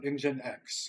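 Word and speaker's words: nginx: So what is engine X? That person is Oh, you're asking the question from the person posting. Yeah, Lord Kahiba says engine X.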